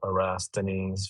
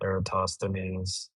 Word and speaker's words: Eratosthenes: But it's along the lines of Erasthenes for Eratosthenes.